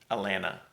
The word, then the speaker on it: Atlanta: The last item on my list, that if you plan to move to Georgia, that we pronounce our city Atlanta without the T on the end.